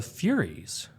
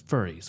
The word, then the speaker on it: Furies: And then probably more telling, assuming I'm not reading too much into it, is that then the Furies, not to be pronounced as furries, which would highly change the meaning of that passage, right?